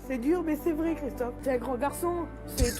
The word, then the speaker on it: Christophe: Déjà, tu le prononces mal. Oh, voilà, c'est ça qu'on veut. Voilà, il faut dire, Christophe.